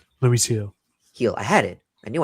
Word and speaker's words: Luis Gil: Luis Luis Hill, Luis Gil, is that how I pronounce it? Luis Hill.